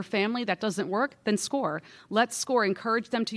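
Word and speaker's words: SCOIR: Looks like Squire, but it's pronounced SCORE.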